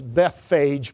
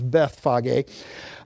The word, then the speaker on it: Bethphage: That's Bethphage, most people pronounce it that, but it's Bethphage, near Bethany to Jerusalem via the Mount of Olives.